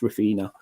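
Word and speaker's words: Refina: I've got a refiner I keep saying we're fine I know it's still nice I know it's pronounced rufina I've got a rufina um float as well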